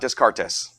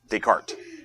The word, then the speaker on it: Descartes: the bathroom is for this person's name is pronounced no deart deart okay no it's decart it's not Descartes it's decart why make the name harder to say it's